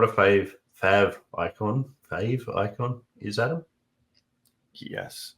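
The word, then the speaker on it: favicon: interested to know who who calls it a fav icon versus a fave icon because I call it fave because it's short for favorite but technically it probably would be pronounced fav icon if it was you know a real word depends on the accent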